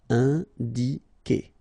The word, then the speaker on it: indiquer: Okay, so it's K here. You don't pronounce the U. Indiquer.